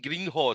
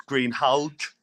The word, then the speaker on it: Greenhalgh: We just got Dean as well, Dean Greenhorn, saying he wants a refund on the time he's invested in you. So, Dean's my best friend. You obviously butchered his surname. Everyone does. It's Greenhalgh. Greenhalgh.